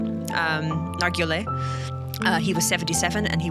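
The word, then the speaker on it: Nargeolet: Paul Henry Nargile, I think is how you say it. Nargile.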